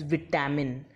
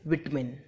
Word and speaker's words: vitamin: This word was pronounced as vitamin, but its real pronunciation is vitamin. Vitamin, not vitamin. It's vitamin.